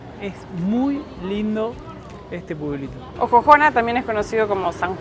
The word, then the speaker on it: Ojojona: Juan de ojojona y dicen que en realidad tiempos atrás el nombre original era Como si fuese jojona pero con x soxona pero al pronunciarlo decían jojona y bueno con el